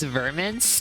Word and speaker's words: Vermince: Verm's original name was Vermince, to rhyme with the Vengeance.